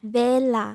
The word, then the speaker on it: Vela: Oh my god, every every single time I try to pronounce my name correctly, I end up wanting to talk in Spanish. That's why I usually use the American accent to say my name.